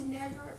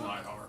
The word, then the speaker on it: Neidhart: I thought it was Neidhart for some reason. It's spelled that way. It's Oh. Neidhart, though.